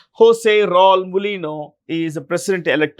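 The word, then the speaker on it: José: This is a Spanish name and it's pronounced with an H. Jose is Jose. Jose Raul Mulino is the president-elect of.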